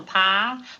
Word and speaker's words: Pyle: your name it's Gomer pile pile rhymes with file makes it easy to